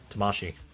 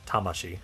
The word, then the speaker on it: Tamashii: to correct me about how I pronounce Tamasi. I know it's Tamashi.